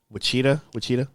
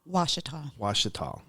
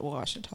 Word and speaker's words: Ouachita: I think it's probably Caddo, but they pronounce it Washita now. Washita? Yeah. I butchered that. No. So. Most people read it the phonetic way to say it, but they pronounce it Washita.